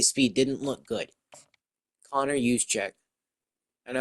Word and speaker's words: Juszczyk: Connor Juszczyk. I know how to pronounce that because the 49ers fullback.